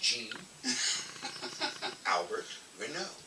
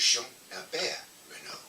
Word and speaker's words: Jean-Albert Renaud: And but in English, my name is pronounced Jean-Albert RENAUD. In French, is Jean-Albert RENAUD.